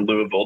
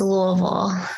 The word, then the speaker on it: Louisville: today we know that you're a native of Louisville or Louisville depending on how you pronounce it so for starters here um what